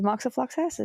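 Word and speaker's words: moxifloxacin: Uh, the fourmonth rifipopentin moxiflaxin regimen includes um, the way you pronounced the second one. That is moxofluxassin.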